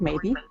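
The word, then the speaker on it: Maeby: a e b y sounds like the word maybe and then her parents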